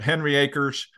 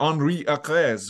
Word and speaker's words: Henry Acres: day first time that we've talked today but Henry Acres uh is proper is that the right pronunciation yes I didn't know if it was the Henri Acres or something in in Swedish and I'll tell